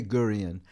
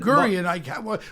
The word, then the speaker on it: Gurian: I could never say Gurian. And Gurian, why most can't you fucking stutterers- pronounce it? Gurian. No, it's a but- very simple last name. because Gurian. a hard G, a hard D.